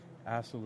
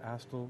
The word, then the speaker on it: Astle: Astle is spelled A-S-T-L-E, David Astle, you can say. I've never met the man, nor do I have heard how to pronounce his name, so I'm pronouncing it Astle or Astle.